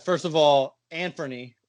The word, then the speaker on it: Anfernee: right first of all Anfernee is how you say is names like nobody knows how to say you guys missed